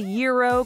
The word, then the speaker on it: gyro: Many English speakers have added their own variation to the pronunciation, but you'll want to know how to say gyro correctly if you ever visit Greece.